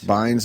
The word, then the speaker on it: Bynes: Bynes.